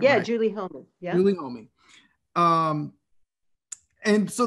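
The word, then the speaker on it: Homi: Yeah, Julie Homey.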